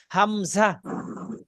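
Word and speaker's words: همزة: এবার 15স হইছে আবার হামজা হামজা শব্দটা উচ্চারণ করে শেষে একদম ছেড়ে দিবেন হামজা হামজা ধাক্কা দিয়ে শব্দটা মুখ থেকে বের করে দিবেন হামজা হামজা হামজা হামজা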